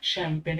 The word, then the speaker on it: champagne: आगे है शैम्पेन, ये वर्ड है शैम्पेन, जो हम बोलते हैं CHAMPAGNE, ये जी साइलेंट है तो ये वर्ड आएगा शैम्पेन।